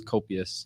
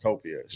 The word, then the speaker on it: Copious: We know that you dropped an album, and that's what I was asking you is how do you pronounce it? It's Copious. Copious.